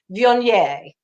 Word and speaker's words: Viognier: It's Viognier. Viognier. That's one of those Frenchy things. It's a French word, and the accent is on the nier.